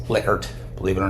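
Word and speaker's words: Likert: a liquor scale some people call it a liyer scale but it's actually pronounced liquer believe it or not and use a 1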